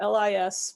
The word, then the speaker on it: Lis: s not a z rhymes with his and spelled the same way so it's uh and it's short for so lis okay great and